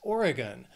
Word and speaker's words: Oregon: I think of Cowboys next is Oregon three syllables stresses on that first syllable Oregon that last syllable sounds like gun because it's un stress so it's just organ